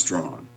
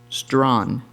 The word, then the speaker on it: Strand: Present, and that's pronounced strong. Strawn. Strong. Yes.